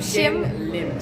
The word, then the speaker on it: Shin Lim: Shin Lim. Shin Lim.